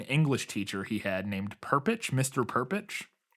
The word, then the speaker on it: Perpich: teacher he had named perpich Mr perpich I don't know how it's p r p i c h that's how I would pronounce it perit yeah um and he